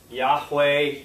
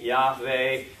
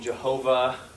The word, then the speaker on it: Yahweh: say it right the the Divine name Yahweh Yahweh you may have seen Jehovah right is another way because why in German is J and they translated into from German so that's where just